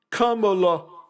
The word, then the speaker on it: Kamala: name Kamala don't you pronounce that don't you mispronounce that word Kamala so we dodged a major bullet we're going